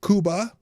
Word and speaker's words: Cuba: It's pronounced Cuba, you morons. And I'm like, well, yeah, in Spanish it's pronounced Cuba.